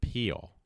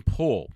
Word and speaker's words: Pool: for his YouTube but it's Tim peel pull I I said it wrong there so Matt haha I caught myself Tim pull it's not on there I just remembered it but Tim Poole was picking on my